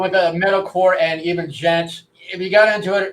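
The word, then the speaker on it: djent: I'm saying it's pronounced gent, but yeah, like gent metal.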